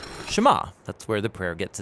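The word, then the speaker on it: שְׁמַע: is hear or listen which in hebrew is pronounced Shema that's where the prayer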